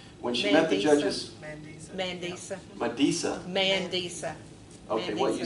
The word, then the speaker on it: Mandisa: I may not pronounce her name right. Medissa Hunley, a gospel singer, was on the 12th finalist on American Idol. When she met the judges... Mandisa.